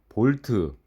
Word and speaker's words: 볼트: 볼티지는 전압이란 뜻이고 약자를 V라고 쓰며 단위도 V를 쓰는데 이때 단위로 쓸 때 V는 V라고 발음하시면 안 되고 볼트라고 발음을 하셔야 합니다.